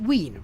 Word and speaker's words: Wien: Pronounce it Wien.